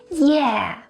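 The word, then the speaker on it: 耶: to talk about is yeah yeah is used to express excitement it actually comes from the english yay and chinese localize it to the pronunciation ye it is often used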